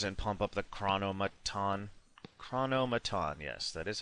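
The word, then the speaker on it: Chronomaton: drop the Invaders and pump up the chronomon chronomon yes that is how you pronounce it and we'll see what he does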